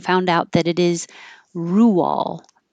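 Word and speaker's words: Roald Dahl: last week's and I didn't know how to pronounce it so my guess was rolled because it looks like road with an l and I looked it up after the Meetup and found out that it is Rule Rule doll so the doll part was right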